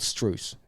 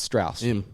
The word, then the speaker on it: Strauss: why it's true it's it's spelt i don't know he's called streuse it's strauss okay anyway you bring